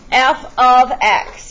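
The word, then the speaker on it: f(x): ex explanation the most popular function notation is f ofx pronounced f ofx you need to know that this is not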